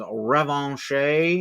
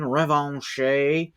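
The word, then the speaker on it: Revanche: one um psylock versus revon I think that would be the French pronunciation revon you can correct me if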